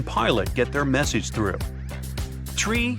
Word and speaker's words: tree: It's the way pilots pronounce certain numbers in their pilot English. Tree stands for three. Five for five and niner is used instead of nine. Such pronunciation helps to avoid radio miscommunications and the confusion caused by similar sounding numbers.